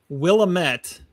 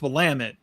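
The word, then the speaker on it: Willamette: You said Willilamett. So it's Wamit and you said it's in California and it's in Oregon.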